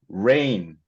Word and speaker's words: rain: R 발음은 제가 좀 추천을 드리자면은 약간 W가 들어가 있는 것처럼 한번 발음해 보시겠어요?